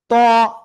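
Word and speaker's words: ت: ত, জিব্বার আগা, উপরের দুই দাঁতের গোড়ায় লাগাবো, লাগে একটু মোটা আওয়াজে আমরা এটা উচ্চারণ করব।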